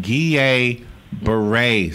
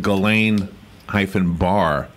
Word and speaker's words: Guillain-Barré: Is in the hospital with something called, now I'm going to pronounce it, it's called Guillain-Barré syndrome. And if you'd looked at it without seeing the pronunciation guide, it would look like Galen-Barré syndrome.